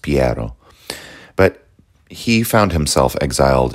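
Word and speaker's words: Piero: of power all right I guess his name would have been pronounced piado but he found himself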